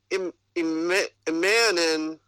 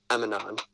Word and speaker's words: Emanon: Emanon. EMMA-NON. Emanon. It's not hard to say.